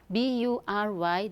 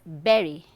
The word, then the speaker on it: bury: Okay, so the first word, see, we often hear people saying or pronouncing this word as bury, because they look at the the letter U, right? B-U-R-Y, they say bury, which is wrong. Okay, the correct pronunciation is berry, not bury.